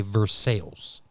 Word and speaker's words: Versailles: to head to Lexington there's a town that is spelled Versailles right but it's Kentucky so they don't say Versailles they say verses makes sense like right like Versa France and